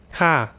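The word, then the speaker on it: ค่ะ: ย ค ่ ะ so it's not ค ่ ะ it's ค ่ ะ ฉ ั น พ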